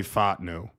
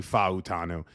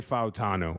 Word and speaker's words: Fautanu: So, not to not to overplay it, but I like Troy Fatnu or Fatanu or Fawutanu, however you want to pronounce it. There's like three different ways. It's actually Futanu. I like Troy Futanu.